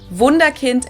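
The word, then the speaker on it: Wunderkind: schnaps or peach schnaps wonderin in English vunda Kint in German and this to Miracle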